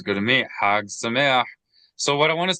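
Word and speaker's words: שמח: Accent on the E.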